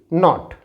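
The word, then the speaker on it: knot: Here K is silent, so it will be not. K is silent here, so it is knock.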